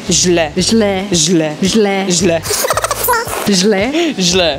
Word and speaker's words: Źle: Or źle. Źle. Źle.